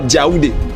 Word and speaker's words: Yaoundé: Ils prononcent là-bas Djaoudé, avec DJ au départ.